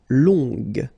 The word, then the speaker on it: longue: Okay, so long, remember you don't pronounce the final G, will become longue. Okay, so phonetically it's longue, g, longue.